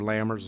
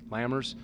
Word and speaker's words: Lammers: Yeah, I look at that because they're, you know, with, again, and it's either Lammers or Lammers. Apologize if I'm pronouncing it wrong. And Stevens, Lammers? Okay, thank you.